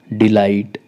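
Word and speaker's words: delight: करेंगे फाइट मतलब युद्ध डिलाइट डिलाइट मतलब आनंद यहां पर भी जी साइलेंट रहेगा डीई एल आई और सीधा टी ऐसे हम इसको प्रोनाउंस करेंगे हमारा नेक्स्ट अल्फाबेट है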